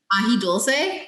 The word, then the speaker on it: ají dulce: How do you say it? Ají dulce? Ají dulce.